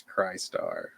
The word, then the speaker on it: Crystar: to say it right because if you just say the way it's spelled it's cry star yeah yeah so or